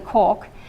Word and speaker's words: CORQ: And so we added to the system, which I've been calling the CORQ, but apparently Konrad Peskov says it's the cork. But it's spelt CORQ, which is a quality of life questionnaire that's been validated for patients with keratoconus.